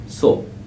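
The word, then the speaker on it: つ: তা সি সু তে তো এই বর্ণটির উচ্চারণ হচ্ছে সুটাকে ইংলিশে লিখলে হয় টি এস ইউ সু ওকে চলুন দেখি বর্ণগুলো কিভাবে লিখি।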